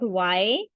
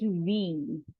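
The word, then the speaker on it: wie: It is not why, it is we.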